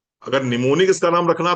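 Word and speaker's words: mnemonic: ना प्रीति जी अगर निमोनिक इसका नाम रखना था तो एन ई एम ओ एन आई सी रखना चाहिए ये एम क्यों लगा दिया बोले सर ये साइलेंट है मैंने कहा साइलेंट है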